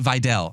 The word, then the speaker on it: Kamani Vidal: Stefan Kamani Vidal did get banged up. Maybe I was Am I still saying it wrong? How did Videl Videl Kamani Videl I'm going to try to change it?